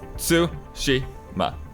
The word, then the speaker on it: Tsushima: what your thing is Japanese theoretically doesn't have it accents right so that all the syllables are even voice like it's su Shi ma so I can so